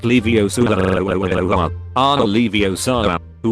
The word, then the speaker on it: Leviosa: stop it Ron star Ronald where lie it's pronounced Leviosa gorillas are Alivio Sarah who were a llama